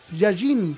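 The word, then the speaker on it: יין: alianza la palabra vino proviene del idioma hebreo yayin con acento en la yayim Define uva fermentada mosto o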